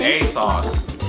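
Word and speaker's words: ASOS: think a socks accessory oh so that's how you pronounce that a sauce okay all right uh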